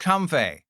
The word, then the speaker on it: Comfey: And if you're wondering, it is pronounced Comfey.